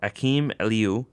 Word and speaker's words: Akim Aliu: Because of that, a former NHLer, Akim Aliu, which I believe is how you pronounce his name, that's how I've heard it, accused Calgary Flames